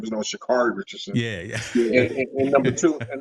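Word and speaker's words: Sha'Carri: you say your interview or post interview after pronounced her name and she would correct them say my name is no shikari Richardson yeah yeah yeah and number two and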